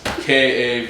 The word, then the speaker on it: Kavanagh: No, it's Kavanagh.